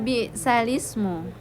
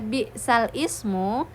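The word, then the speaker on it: بئس الاسم: Nah, jadi di sini ada kata bisalismu ya. yang seharusnya dibaca bisal ismu, maka kita cukup membacanya dengan eh disambung ya menjadi bisalismu.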